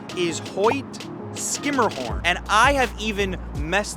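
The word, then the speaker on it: Hoyt–Schermerhorn: how would you say it if you said Hoy sherah horn you would be incorrect the proper pronunciation is Hoy skimmerhorn and I have even messed that up on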